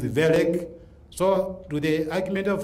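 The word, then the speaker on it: Wellek: It is again a German name. You don't read it. It is ver.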